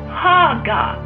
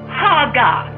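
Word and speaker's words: hagah: The word meditate is from the Hebrew word haga. Amen. That word is spelled H-A-G-A-H.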